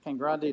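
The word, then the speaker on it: Cangrande: was Grande delala con Grande deala it is Kang Grande delis Scala and that's this is not known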